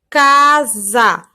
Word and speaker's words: casa: Por exemplo, na palavra casa, o S ele está entre duas vogais, ele está entre a vogal A. Então, ele fica com o som de Z ao pronunciar. Casa.